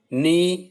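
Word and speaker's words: know: नी, knife, not एंड नो। हमें पता है कि इसमें क्या कॉमन है कि इसमें जो के है वो साइलेंट है, के is silent in these words.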